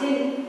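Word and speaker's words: jinn: moon for further chewing gin pronounced jin and variously spelt as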